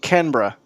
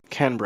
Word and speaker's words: Canberra: Petrichor saying, pronounce it Canberra. Now. There you go. Canberra.